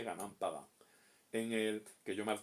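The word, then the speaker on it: Gunung Padang: y di ganan Padón, que se escribe Gunumun Gunun Padán, leeríamos nosotros, pero se dice Ganán Padán.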